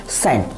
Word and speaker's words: scent: अब आप सेंट की स्पेलिंग को नोटिस कीजिए, SCENT, सेंट, SCENT, सेंट। सेंट मतलब होता है इत्र। तो यहाँ पे एस के बाद सी आ रहा है, सी साइलेंट है।